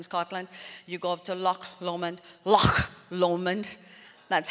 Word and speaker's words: Loch Lomond: You go up to Loch Lomond, That's how they say it.